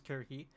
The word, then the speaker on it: Circe: is the daughter of Circe, and Kirki. I know I'm switching pronunciations. I've heard actually that the proper pronunciation is Kirki.